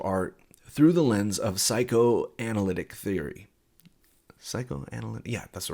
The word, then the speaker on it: psychoanalytic: This is a method of analyzing and interpreting works of art through the lens of psychoanalytic theory.